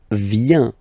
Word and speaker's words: vient: Then il, elle vient. Final T not pronounced.